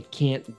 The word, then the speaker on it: can't: So can't is normally pronounced with kyōon. And a lot of times it's pronounced with a lowering intonation at the end. I can do that. I can't do that.